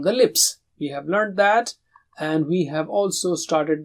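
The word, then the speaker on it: ث: So if this is teeth and this is the tongue, you touch the tip and blow with a light sound like tha.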